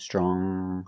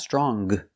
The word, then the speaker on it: strong: in the world longest another adjective strong again you make the nasal sound strong not strong but strong if I change strong